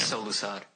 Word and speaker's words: Solusod: it how do you how do you pronounce your last name solad solad okay so I've like solad